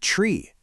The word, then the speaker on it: three: But tree, that hard T sound, just cuts right through all the noise loud and clear.